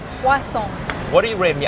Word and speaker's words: croissant: français versus en thai Croissant Croissant What do you rate me out of 10 Maybe 7 7 It's not bad but you need to say more croissant insist on the croissant Croissant Croissant Okay Croissant